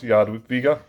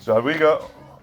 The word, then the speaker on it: Jadwiga: And that's how supposedly it's pronounced, Jadwiga.